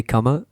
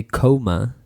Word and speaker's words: comma: just a quick note be careful with the pronunciation for comma if you say comma is coma you know to separate different different words in a sentence but if you say coma you mean you know you know the